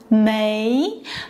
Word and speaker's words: 枚: For medals, it's mei, pronounced mei, kind of like saying a piece of in English.